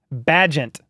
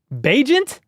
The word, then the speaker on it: Bagent: Yeah, let me know how to pronounce his name. Badgent. Bagent?